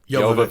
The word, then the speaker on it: Jovovich: Alice, played by Milla Jovovich. Jovovich. We put a lot of work into researching how to pronounce this name before the Milla episode.